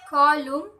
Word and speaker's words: column: The letter N is silent in the following words. The examples are autumn, column, hymn.